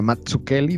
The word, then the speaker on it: Mazzucchelli: miller con david mazzucchelli así se pronuncia mazzuchelli dicho por el propio david mazzucchelli y para ello me